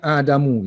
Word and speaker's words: آدم: So kalau proper name, kalau dia tu kalimah ni yang bukan originally Arab, kita panggil ajam lah. So dia tak boleh ada tanwin. So bacanya Adamu tu.